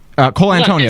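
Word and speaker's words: Colantonio: Is that how you pronounce it? Cole Antonio, yes.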